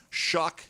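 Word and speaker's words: Shough: Shuck may rhyme with suck. It actually does.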